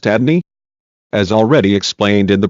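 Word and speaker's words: Adonai: in Hebrew both being 86 as noted above pronounced Adney as already explained in the previous chapter the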